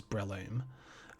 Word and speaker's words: Breloom: looked it up in the anime it is pronounced as I've been saying which is Breloom really okay before I started before I looked